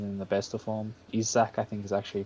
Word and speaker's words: Isak: Just because Sweden are overly reliant on Forsberg right now and Isaac isn't in the best of form. Isak, I think is actually pronounced it, I but think it's Isak.